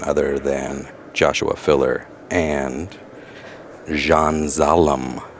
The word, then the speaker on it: Can Salim: than Joshua filler and Jean zalam other otherwise known as K Saleem if you spell it out looks like Jean has